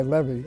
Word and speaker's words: Levy: It's L-E-V-Y, Levy. I pronounce it Levy.